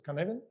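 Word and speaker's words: Cynefin: Welsh word spelled as cinefan over there but pronounced as canvan.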